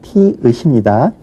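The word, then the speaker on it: 티읕: 그 다음에 티긋이라고 많이 발음을 하지만 티읒입니다. 그 다음에 피읍, 히읒이고요.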